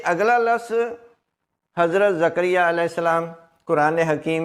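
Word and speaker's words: زکریا: नहीं है ये है जकरिया जे के ऊपर भी जबर है काफ के ऊपर भी जबर है रे के नीचे जेर है और ये के ऊपर शद और जबर जकरिया लफ्ज नंबर 14 देखें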